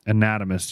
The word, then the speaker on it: anatomist: skulls and these anime how do you say that word anatomy and i will keep wanting to say anatomy anatomist these anatomists believed that skull